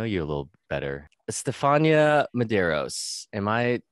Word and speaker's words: Medeiros: Stefania Medeiros. Am I pronouncing that correctly? Yes. My first name is Stefania. Medeiros. So I say Medeiros. A lot of people say Medeiros.